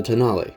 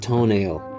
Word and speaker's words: Tonale: after the stelvio pass it is not toenail stop it no one thinks you're funny if you're being purposely obtuse if you legitimately didn't know you're excused secondly the tonale was first unveiled at